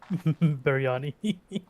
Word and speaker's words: biryani: How do you pronounce that? Biryani.